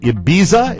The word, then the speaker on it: Ibiza: oh no the man was uh vacationing in ibiza is that the correct pronunciation of the resort town yes he got